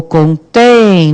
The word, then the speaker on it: contém: Qual que é a sílaba tônica? O contém. Não é o tem? É. Então, o que nós temos aqui? Hiato de tom não apareceu. Então, nós temos o quê? Oxítona terminada em EM.